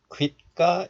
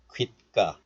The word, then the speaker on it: 귓가: So this is pronounced like 귀가, but also 귓가 is okay. I told you that pronouncing this 사이시옷 as 디귿 is also allowed. So 귓가 is also fine.